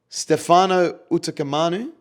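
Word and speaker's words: Stefano Utoikamanu: And then we have New South Wales bench is Cameron Murray, Stefano Utakamanu. Hopefully that's the right pronunciation.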